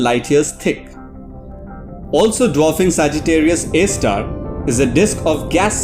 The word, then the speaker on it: Sagittarius A*: sagittarius a asterisk often abbreviated to sjra asterix and pronounced sagittarius a star is a supermassive black